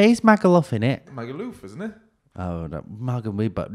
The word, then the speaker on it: Magaluf: say my Google magalov you say laugh as if you're saying um Loughborough yeah he's Michael off in it magaluf isn't it oh no